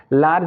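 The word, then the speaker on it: large: अब अगला हम इसका मेथड देखते हैं कि अगर किसी वर्ड के अंत में जी ई आता है, यानी कि जी के बाद ई आता है वर्ड के लास्ट में, तो वहां पर हम जी का उच्चारण ज के रूप में करते हैं।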